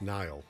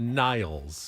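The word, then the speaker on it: Niall: guy's name n NY Nile Horan hor not Niles Nile just Nile n like like the river in Egypt right but it's spelled differently Nile haran he was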